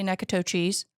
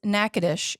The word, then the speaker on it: Natchitoches: It looks like nachitoches. I say Nakatochis. Some people do say nakatoches. Mm-hmm. but it is Natchitoches. It's a city in Louisiana, and it is spelled Natchitoches.